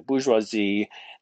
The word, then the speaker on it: bourgeoisie: problem with the bourgeoisie the bourgeoisie that's how you pronounce that word there uh it's french and it refers to